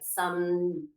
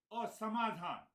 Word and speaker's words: Samadhan: if I'm saying it right, Samdadanam. Is that right? How do you say it? Sama. No, but the seventh treasure or the sixth treasure. Six treasure, Shraddha. Six is the, Samadhan.